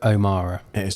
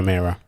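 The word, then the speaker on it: O'Meara: right do i adam it's joe omara not joe mirra hmm should be really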